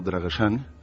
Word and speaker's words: Dragosani: Y entonces esta chica me contaba que ella de pequeña se crió en el pueblo de sus abuelos, un pueblo llamado Dragosani, en pronunciación rumano Dragosani.